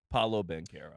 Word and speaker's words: Paolo Banchero: year to figure out how to pronounce paulo ben carroll so the fact that we finally had the full culmination moment of him saying his own name paulo bankera which uh one of